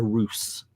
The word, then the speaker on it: ruse: show this isn't entirely a Roose by the way which is the way it's spelled ruse Roose the English language is weird ruse yeah um I